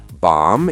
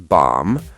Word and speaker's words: bomb: So thumb is thumb, bomb is bomb, climb is climb. Perfect. And same with comb and lamb. Here's the pattern. If you see mb at the end of a word, the b is silent.